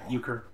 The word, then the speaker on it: euchre: Someone pronounce this for me. Situations. Euchre. Euchre? Right. Euchre.